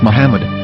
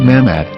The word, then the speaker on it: Muhammad: Ben yehuda's Hebrew English dictionary it is correctly pronounced as Muhammad not mmad so how we're going to know for sure